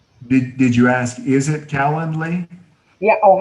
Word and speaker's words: Calendly: Did you ask, is it Calendly? Yeah. Oh, how do you spell it?